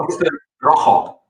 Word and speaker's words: Rooster Rojo: Do I pronounce correct? Rojo? Rooster Rojo.